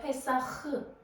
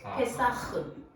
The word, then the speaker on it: 페사흐: 6월절 발음하기가 좀 우리 그 페사흐가 아니라 페사흐. 한번 해보실래요? 페사흐. 목에서 긁어야 돼요. 페사흐.